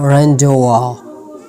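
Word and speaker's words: rendezvous: having जड sound silent मुझे सिर्फ दो वर्ड्स मिले जिसमें जड जो है वो जड का जो साउंड है वो साइलेंट होता है जैसे कि लेसो फे लेसो फियर उसके बाद है रेंडवा रेंडवा रेंडवा ठीक है अगर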